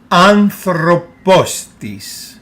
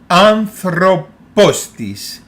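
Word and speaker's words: ἄνθρωπος: syllable of anthropos so this is how we pronounce it anthropos one more time anthropos it's pronounced like one word p again pay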